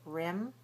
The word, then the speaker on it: rim: So, watch it. Rim ream. Rim rim. Lax rim. Tense ream.